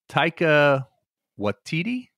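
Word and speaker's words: Taika Waititi: has rise Derby as Bonnet and Tak uh taica watiti as Blackbeard yeah oh yeah I like him you know who that guy is saying it right yeah yeah Tao watiti um anyway what's interesting is I started watching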